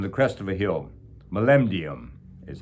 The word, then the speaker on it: molybdenum: shallow cave amongst the outcroppings of an abandoned molybdenum mine. That's a metal that would be mined in Canada. On the crest of a hill, molybdenum is how you pronounce it.